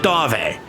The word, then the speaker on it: Dav: Yes, I know it's Dave, but Silando, his employer, pronounces it Dave. So, who are we to uh not abide by the pronunciation?